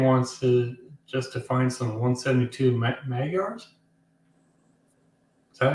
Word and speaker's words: Magyars: Meandering wants to find some 172 Magyars. Is that how you say it? Magyars, yeah.